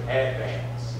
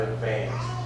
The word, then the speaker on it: Advance: And that's how you pronounce it, Advance, not Advance.